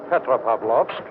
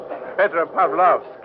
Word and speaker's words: Petropavlovsk: Petropavlovsk. It is not hard to say. Oh, that's for you. Petropavlovsk.